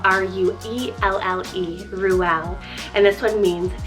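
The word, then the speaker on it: Ruelle: Then for something a little bit more girlier, but still edgy, we have Ruel, spelled R-U-E-L-L-E, Ruel.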